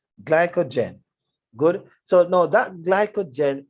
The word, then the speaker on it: glycogen: and store it in glucogen glucogen look at glucagon glucogen glycogen glycogen i don't know why i keep pronouncing the word wrong glycogen good so no that